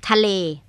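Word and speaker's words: ทะเล: tal t t t it's two words is it t t but you very like speak it very fast tal tal yes and what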